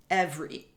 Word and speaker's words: every: those things together so for me as a canadian english speaker from northern ontario this word contains two syllables however it's quite common